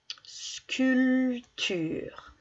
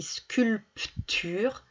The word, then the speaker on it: sculpture: retrouver le mot sculpture sculpture regardez bien il est là concours de sculpture il ya une lettre là ici qu'on n'entend pas ça s'écrit sculpture n'entend pas le pq en plein milieu alors je donne la